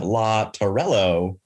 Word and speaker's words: Tarrello: Did not ask how to pronounce the last name. So I'm going to take my best shot. In our expert today, we have Law Tarrello. That's exactly right.